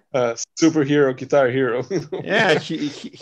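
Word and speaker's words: Herro: They had a hard time defending Hero and Hero, whatever you spell his name, superhero, guitar hero. Yeah, it's pronounced Hero, but at least broadcasters in USA.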